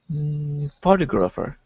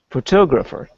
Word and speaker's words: photographer: say this word please photographer okay but that's not where we put the stress in this word can you try again photographer yeah there we go